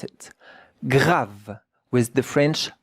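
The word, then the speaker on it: grave: J A V G R A V E gra. But the E at the end, we don't hear it. And look at how to pronounce it. Grav with the French R.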